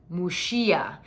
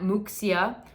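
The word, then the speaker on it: Muxía: not yet gone I'm dying to go it's mushia so there's an X which in Gallego in the local language in Galicia is pronounced like a song Sound I shouldn't have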